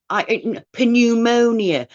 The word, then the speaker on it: pneumonia: used to, difficult words, I would say it as it's spelled, as it looks, and then I'd know, like pneumonia. It's not pronounced pneumonia, but I knew had a P in the front of it.